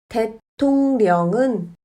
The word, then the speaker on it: 대통령: 하지만 리을은 르로 발음하지 않고 느로 발음합니다. 대통령은 대통령으로 발음합니다.